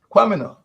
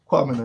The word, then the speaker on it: Kwamina: On the other hand, Kwamina, spelled with a K, K-W-A, Kwamina, not Q.